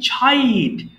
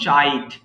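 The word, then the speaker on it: chide: ছাইট. এর উচ্চারণ করব ছাইট, নট চাইট.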